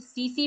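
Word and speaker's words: tsetse: इसे सीसी मक्खी कहते हैं। क्या? सीसी। अब आप सोचेंगे कि इसमें टी क्यों है? तो ये टी साइलेंट है।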